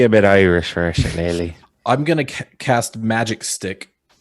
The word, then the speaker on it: shillelagh: Does anyone know how to pronounce this? Shilalag? Shillelagh.